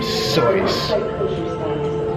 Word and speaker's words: Seuss: are art of Dr Seuss not a lot of people know that he actually pronounced his name soy true story look it